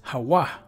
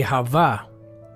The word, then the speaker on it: הוה: root word here it's Hawa Hawa right and when you listen to it so they say Hava which is not really Hawaii because the V is not pronounced there it should be Hawa Hawa okay I don't know